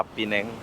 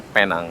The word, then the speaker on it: Penang: Oke, jadi begini suasana pagi di kota Pineng, Pineng, Malaysia. Penang, tulisannya Penang ya, tapi aku bacanya Pineng, Pineng terus. Tapi sebenarnya Penang ya.